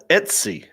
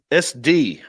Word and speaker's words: Etsy: you say etsy yeah etsy etsy you were saying sd at one point like std those things are expensive